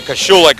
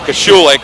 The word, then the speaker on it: Kashulik: the Panther Valley area kashulik I always say it wrong yeah that's kashu like and uh because she